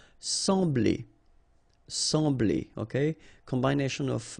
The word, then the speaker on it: sembler: So EM will give you the sound en, okay? So you don't pronounce the M, you just get the sound en. Sembler, sembler, okay?